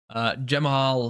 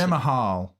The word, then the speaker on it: Jamahal: Jamal Hill, we just saw this bit of news. He got arrested. Jamahal. Jamal. That's how it's spelled.